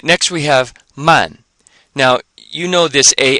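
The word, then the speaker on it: 慢: as in to e so it sounds the ending the a an final sounds just like it does here and here except we have an M before it so we have man and this means slow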